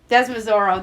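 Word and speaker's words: Desormeaux: than i am uh the zormio with that e-a-u-x pronunciation desmozoro there we go um tell us about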